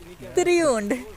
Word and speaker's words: Triund: Correct pronunciation? Triund.